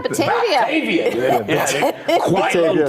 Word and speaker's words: Batavia: Is that how you say it? Oh, yeah, Batavia.